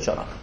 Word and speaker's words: csanak: CH-val írja, csanak. Tehát biztos, hogy csanak a kiejtése is.